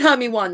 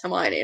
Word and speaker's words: Hermione: Oh, I said Hermy 1 because I'm special. Like I did Hermy 1. I was like, is that how you? And Dad was like, no, it's Hermione. And I'm like, does not sound like it's spelled.